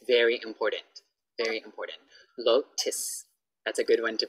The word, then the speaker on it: Lotus: Lotus, so I often hear people go, oh, go to Lotat. Lotus, Lotus, not Lotat, Lotus, okay.